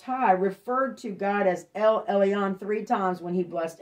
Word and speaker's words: El Elyon: all right it's pronounced l e i mean l l u on i'm sorry el elyon okay melchizedek the king of